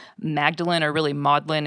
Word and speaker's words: Magdalen: talk about the um modlin grimoire it's spelled like Magdalene uh but for for those people who aren't famili amiliar with the UK education system modlin College in Oxford and a couple other